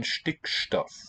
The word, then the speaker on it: Stickstoff: You left out the T in Stickstoff.